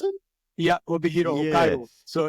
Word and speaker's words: Obihiro: pronounce it? Yeah, Obihiro, Yeah, Hokkaido.